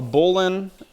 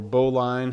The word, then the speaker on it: bowline: And so a bowline or bowline, however you want to pronounce it, the purpose of this